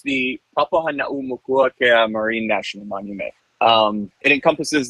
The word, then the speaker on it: Papahānaumokuākea: It's pronounced the Papahānaumokuākea Marine National Monument.